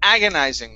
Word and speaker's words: agonizing: Here with this word, okay, it's agonizing. The stress is at the very beginning.